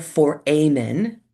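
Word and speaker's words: foramen: It looks like the word foreman. The foreman on a construction crew. the foreman, right? So the opturator optator for amen is actually how you pronounce that.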